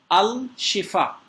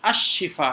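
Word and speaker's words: الشفاء: लोग गलती करते हैं अल शिफा अलशिफा नहीं है यह अ शिफा है क्योंकि रूफ शमसिया की वजह से लाम साइलेंट हुआ और साइलेंट होने की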